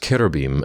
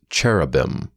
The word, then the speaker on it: cherubim: were in fact kerbim most english speakers mispronounced kerabim as cherubim simply because that's how it seems like it should sound to our language rules furthermore the icons of